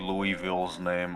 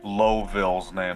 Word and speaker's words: Louisville: Fuck, I forgot MP Louisville's name. Oh, I'm sorry, Lowville's name. That's how you actually pronounce it.